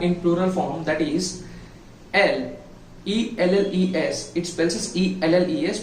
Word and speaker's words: elle: It spells E-L-L-E, but we need to pronunciate it as L.